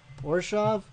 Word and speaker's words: Orzhov: How do you pronounce this? Hold on. Mechanic Spotlight, the Orzhov Syndicate. Orshov. Orshov? Ravnica Allegiance Mechanic Spotlight, the Orzhov Syndicate. Orshov. Okay, that's how you pronounce it.